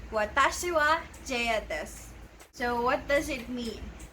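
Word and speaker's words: です: not pronouncing it as desu because the correct pronunciation is des. Again, it's another vowel devoicing, but this time it's in the letter U or at the end of a word.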